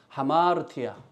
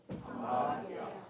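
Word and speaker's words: ἁμαρτία: 원래는 아마르티아인데 하라고 아 위에에이 그 쉼표가 거꾸로 이렇게에 쓰여져 있어요. 보면이 심판 심판이 없어서 못 쓰는데 예 그러면은 숨을 내쉬면서 발음을 하라고 하는 그런 그 이게 기호입니다. 그래서 숨을 내시면서 하다 보니까 하마르티아 이렇게 되는 거예요.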